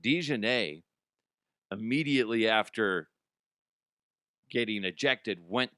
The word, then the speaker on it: DiJonai: Now, DiJonai, I believe is how she pronounced it. DiJonai, immediately after getting ejected,